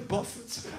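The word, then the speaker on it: Bough: I should tell you my name is spelled B-O-U-G-H, not... You've misspelled my name. You go, no, it's Boff.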